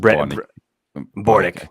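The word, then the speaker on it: Børnich: It's just Bornik.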